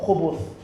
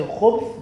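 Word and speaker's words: خُبُث: Do you say khubth or khubuth? And one scholar, Al-Khattabi, he says that it's with a dhamma, khubuth. And if you say khubth, then it's a mistake and it's an error, it's wrong.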